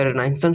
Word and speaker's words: Renaissance: की बुक से द रिनाइसेंस period. So रिनाइसेंस period, जिसे रिनाइसेंस भी प्रोनाउंस किया जाता है, स्टार्ट होता है 1500 से और 1600 तक ये चलता है।